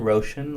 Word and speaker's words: Roshan: oh Sh a an Roshan like ocean with an R and last name John